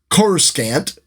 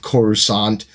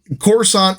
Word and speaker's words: Coruscant: first is Coruscant uh which most people pronounced quarter scant at this time uh I was really happy with George Lucas's choice for the pronunciation of Coruscant uh there's one of